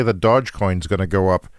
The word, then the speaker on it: Dogecoin: because people say that dodge coin is going to go up because of his appearance and it already is going up yeah uh dogecoin i think is the pronunciation doge and it's just another